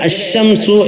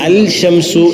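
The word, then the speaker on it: الشمس: ഇങ്ങനെതന്നെ ഖുർആൻ ഉണ്ട് അംസുമ ഇവിടെ അശംസു എന്നാണ് ആദ്യം പറഞ്ഞത് അൽശംസു എന്നല്ല അതുപോലെ അക്കമറു അല്ലെങ്കിൽ വമറു എന്നല്ല മറിച്ച് വൽകമറു അവിടെ ലാമിന്റെ ഉച്ചാരണത്തോടു കൂടിയാണ് ഇതിൽ നിന്ന് തന്നെ നമുക്ക്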